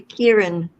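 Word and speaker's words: Ciarán: now there's another one after K Kieran yeah whatever it's called it's spelled c i a r a n yeah name them when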